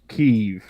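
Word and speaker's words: Kyiv: a tweet here says when did we start pronouncing it keeve rather than kiev i watched the world at war documentary when i was like 15 and they pronounced it kiev and i refuse to change and you know what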